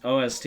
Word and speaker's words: OST: I thought it was Ost for like the longest time. Cause that's how like my Google Home pronounced it. I was like, oh, that must be what it means. When I was younger, until my brother was like, it's OST, and I was like, why?